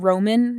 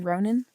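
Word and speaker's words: Ronan: Uh, Ronin is is like not Roman, not Rowan, but Ronin.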